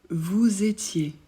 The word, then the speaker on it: vous étiez: nous comme un Z vous étiez pour vous on fait aussi la liaison donc on prononce le S de vous comme un Z vous étiez on ajoute